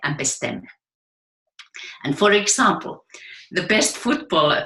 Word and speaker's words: bestemme: And all of these people delivered a little poem that rhymes with 2 words. The word for home in Danish, which is hjemme, and the word to decide, which is bestemme. Hjemme and bestemme.